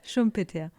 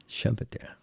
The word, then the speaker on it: Schumpeter: we're speaking English here, so Schumpeter sounds right. A German or two may listen in. So how do you say? Schumpeter. Schumpeter.